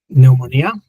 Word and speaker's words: pneumonia: So, similar to the Spanish, but I'm just with a a yah sound at the end like yeah.